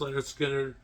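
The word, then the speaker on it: Lynyrd Skynyrd: First one was pronounced Leonard Skinner, so now we all know how to pronounce it.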